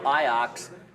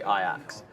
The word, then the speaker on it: Ajax: the other bird of iox that's how you say it you don't say Ajax because we have a city called Ajax but in in uh in um what's it called Netherlands you say iax went to Arsenal yes